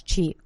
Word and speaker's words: qi: And it's spelled Qi, but you pronounce it as qi.